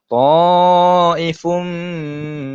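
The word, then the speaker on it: طَائِفٌ مِّن: Ta'ifum. Apa tak? Saya masukkan terus 100% tanwin tersebut ke dalam huruf mim.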